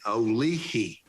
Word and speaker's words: Olihi: And those of us who've been calling it Ollie's Place were corrected. That's not the pronunciation. The actual name comes from a Cherokee word meaning Olihi, which is interpreted into English meaning friendship.